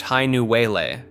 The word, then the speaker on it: Hainuwele: The myth centers on Hainuwele, pronounced Hainuwele, often called the Coconut Girl.